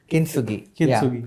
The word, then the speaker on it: Kintsugi: There is a chapter titled, if I'm pronouncing it right, Kintsugi. Kintsugi.